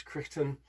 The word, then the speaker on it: Crichton: is the customer's tartan it's the crichton possibly pronounce christian due to variations in regional pronunciation i'm going to keep calling it crichton and it's a very